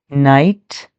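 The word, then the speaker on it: knight: Night. Night. You don't pronounce the K. And what do they mean? Night.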